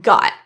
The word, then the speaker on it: got: Another pronunciation you might hear is a glottle T for the T in got. G got. G got. The vowel in got is an a with an open relaxed lip position a rather than o or rounded lips as might be expected with the spelling. Compare goat rounded versus got. Open relaxed. Goat god. I got you.